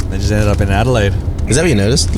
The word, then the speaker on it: Adelaide: just ended up in Adelaide is that what you noticed like Adelaide people are quite posche yeah yeah um yeah they they pronounce it as edela I'm from edel fancy